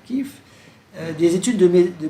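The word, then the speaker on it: Kiev: Donc on prononce souvent Kief en France mais on devrait dire kiff.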